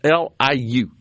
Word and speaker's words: Liu: It's Liu. And I've seen it pronounced both ways. I'd go with Liu. Yeah, I think that's probably right, where the I is silent, right?